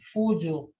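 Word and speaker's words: fuco: Remember now, this is pronounced Fuju. And it says, Fuju dot hizages, and that's the saying I didn't see any ducks. Can somebody repeat this word, Fuju, for duck? Fujo.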